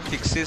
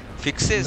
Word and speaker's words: FYXS: अरे मेरे को पेन मत बुलाओ बे, मेरा नाम फिक्सिस है. अबे तेरा ऐसा नाम है साले, प्रणाम करने में तो फिक्सिस जबान से चल जाता है लोगों का.